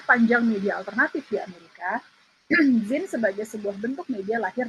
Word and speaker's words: zine: kita masuk cerita ada Zin nih ceritanya bacanya Zin ya teman-teman ZM Zin eh Z adal